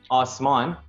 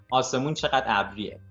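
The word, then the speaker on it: آسمان: uh quite commonly used so i'm saying osman or now i'll just say it like the way you would say it in a conversation like if if i was talking to somebody i would say awesome but like i said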